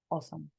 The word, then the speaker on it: awesome: Y esta combinación va a ser como la de una O. Entonces en este caso, diríamos que la fonética de esta palabra sería awesome. Así lo vamos a pronunciar.